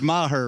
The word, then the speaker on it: Maher: name so tell everybody it's my her right is Maher and and I like